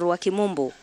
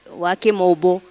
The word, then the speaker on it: Wakimobo: Wakimobo, is it Wakimobo or Wakimombo? Wakimobo, that's what I'm told the pronunciation is.